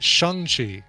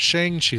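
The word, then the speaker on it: Shang-Chi: the way i'm hearing the commercial pronounces that shanxi and not shang chi like we've been like i've been saying my entire life shang chi chong chi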